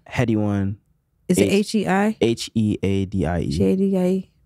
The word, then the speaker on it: Headie: H-E-A-D-I-E. G-A-D-I-E. Okay, Headie, like head.